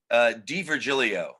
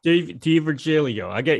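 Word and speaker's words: D'Virgilio: Am I pronouncing his name right? Is it DiVirgilio? DiVirgilio. DiVirgilio.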